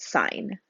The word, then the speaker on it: sin: first three letters uh we don't pronounce this as sin it's sine of x okay then we also